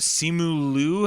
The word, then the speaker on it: Simu Liu: Yeah, it's Korean. That's why I always mess it up, because I want to pronounce it with a Mandarin accent, but it's not.